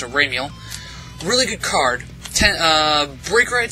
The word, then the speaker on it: Ramiel: I usually pronounce it Ramiel.